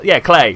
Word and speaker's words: Klei: a new game by clay clay clay that is exactly how it's pronounced where you take control